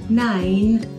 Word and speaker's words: nine: Seven, eight, nine. Olha o E final de novo, não pronunciado.